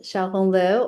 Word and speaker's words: Xiaohong Liu: So, I'm Shiao Honglu or um my nickname is. Often people have trouble pronouncing it, so they just call me Dr.